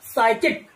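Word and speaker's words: psychic: तो अब यहाँ देखिए सामने जो पी दिया हुआ है तो पी का हम प्रोनंसिएशन में उसका प्रयोग नहीं कर रहे हैं, मतलब हम उसका उच्चारण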